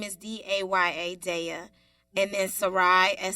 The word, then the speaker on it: Daya: choc ro n so our first name is da y a daya and then suraíh and say Rai last